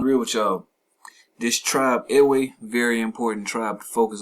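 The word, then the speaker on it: Ewe: do your research man dig on the eway very important tribe properly pronounced e right so it says it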